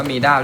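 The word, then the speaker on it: Mida: อังกฤษ ไม่ ผิด ไม่ มัน ต้อง อ่าน ว่า มีด้า ด้วย นะ ไมด้า ไม่ ได้ นะ มีด้า ค่ะ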